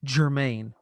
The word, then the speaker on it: German: uh glb it says german g-e-r-m-a-n but it's pronounced germaine why i don't know that's just uh that's